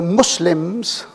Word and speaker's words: Muslim: And the Muslims, again the CS sound, Muslim, and not Muslim.